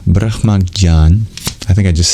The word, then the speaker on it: Brahmajñāna: Anyway, it's a difficult to pronounce consonant cluster. J and N-Y, Jnān, Brahmajñāna. Anyway, that is to be interpreted to mean knowledge of the Atma.